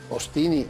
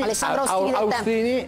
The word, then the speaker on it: Austini: Ostini alla francese, AU si legge esatto. O. Oppure Ostini, dipende. Ostini. Insomma, Ostini, Austini aveva ragione, attenzione, a